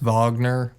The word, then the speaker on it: Wagner: And Franz Wagner, whatever the hell I think it's pronounced Wagner. But but spelled Wagner. Yeah. German.